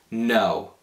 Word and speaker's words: know: Adesso voglio farvi vedere alcune parole in inglese che si scrivono in un modo diverso da come si pronunciano. La prima è il verbo know. Know, che si usa come sapere e anche come conoscere in italiano. Si pronuncia questa parola così.